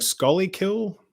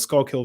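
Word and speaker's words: Schuylkill: pronunciation of these places took me forever to say skull kill skull kill valley i was just like scully kill like no it's skull kill valley it's like oh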